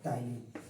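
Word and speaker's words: ptyalin: ये जनरल उसका है टाइलिन और टाइलिन में पीस साइलेंट होता है पी टी वाई ए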